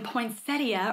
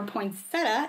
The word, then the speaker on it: poinsettia: cup or instead of saying poinsettia or poinsetta if you say it like that if you live in the south you would say where